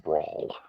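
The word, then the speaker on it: Braal: Uh, it's pronounced Brawl.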